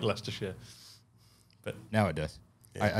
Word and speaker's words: Leicestershire: All the way out of Leicestershire. No, you fucked that up. Yeah, you murdered that. Well, how is it? Leicestershire.